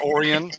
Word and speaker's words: Orion: Am I saying Orion right? Because it's freaking Orion. But yes, Oran. Yes.